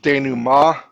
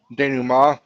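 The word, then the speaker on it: dénouement: you may not know how to pronounce it's pronounced Dan ma Dan ma it is another way of saying resolution you're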